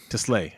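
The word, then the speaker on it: TeSlaa: Isaac Tesla. Tesla? Is it Teslay? Okay. Teslay. Okay. I don't know. That's how you say it.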